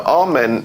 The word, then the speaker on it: Amen: Now, Amen is the pronunciation that the Hebrews give it, and some scholars agree to use that pronunciation.